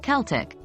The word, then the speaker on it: Celtic: American and British versions Irish Celtic is pronounced as Celtic the C Sound remains hard like AK and there's a noticeable k sound at the end of the word too the E sounds like the e in get and the I sounds like the i in bit practice makes perfect the